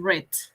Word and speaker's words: read: Así es Wilson Entonces se escribe igual pero la pronunciación es distinta uno es read en presente y en pasado es read sí Entonces como vieron